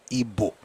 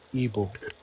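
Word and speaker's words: Igbo: No, my point is Ebo people don't pronounce ebo.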